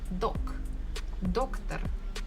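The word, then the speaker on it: доктор: I can hear that stress falls on the first syllable doc doctor doctor here I can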